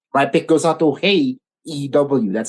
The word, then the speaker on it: Hey EW: So yeah, hey, first of all, guys, my pick goes out to Hey EW. That's how he says it. That's how it's pronounced.